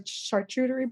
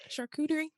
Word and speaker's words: charcuterie: call it and i don't think i'm gonna pronounce this right but you know what are they called the chartreutery boards you know what a chart shootery is charcuterie charcuterie thank you because i know i was